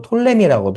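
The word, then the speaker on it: Ptolemy: 지역은 처음에는 남방에 있는이 프톨레미 보통 이제 영어로 한 피가 묵음이 톨레미 하는데 어 남방에 프톨레마이오스가 다스립니다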